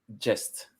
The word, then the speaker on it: Gest: Gest. So Gest. in English, you would say a jest of Robin Hood. Gest. And it comes from the French chanson de geste, so from the word geste.